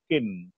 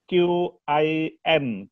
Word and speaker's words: Qin: Akhirnya tinggal satu negara, yang disebut Qin. Ejaannya Qin. Q-I-N. Qin. Dari situlah asal usul China.